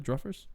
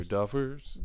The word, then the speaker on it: Duffers: Did I say the Druffers? No, you said it right. I thought just think it's a Druffers. funny name. Why did I think Druffers? They're Duffers.